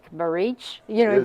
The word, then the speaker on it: Baric: Joe baric did our and baric is not baric barich you know he pronounce